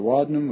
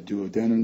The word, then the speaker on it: duodenum: And the first section is called the duodenum, or the duodenum, depending on how it's being pronounced.